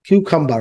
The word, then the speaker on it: cucumber: Cucumber, right? But sound হচ্ছে কে দিয়ে sound হবে? Cucumber.